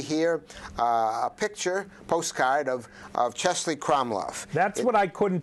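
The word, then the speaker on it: Český Krumlov: Now we're going to take the train, and you see here a picture, postcard of Chesley Kromlov. That's what I couldn't pronounce when I introduced you.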